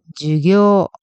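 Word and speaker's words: 授業: 수업은 주교 수 또 발음에 주의해야 해요 앞에는 짧고 뒤에는 길어요 같이 읽어 볼게요 주교 잘하셨어요 그럼 수업이 주교가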